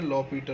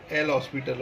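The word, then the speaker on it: L'Hôpital: लोग क्या बात करेंगे, लॉ पीटल रूल। देखो दिखता ये एल हॉस्पिटल है, लेकिन इसको एल हॉस्पिटल ना बोल के इसको प्रोनाउंसिएट लॉ पीटल रूल बोला जाता है।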